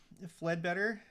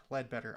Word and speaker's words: Ledbetter: Fledbetter, Midvale, Utah. And at work, also uh you always say my name wrong. F is my middle initial. Okay, F Ledbetter.